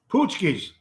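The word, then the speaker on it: pączki: also fat tuesday it's poosky pootsky is that how you pronounce it p-a-c-p-a-c-z-k-i it's actually sounds like pesky poochies what's a puskies what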